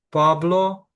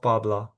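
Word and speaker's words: Pablo: Особливо будьте уважні в закінченнях, бо Ермано брат, Ермана - сестра. Пабло, не перетворте його в Пабла.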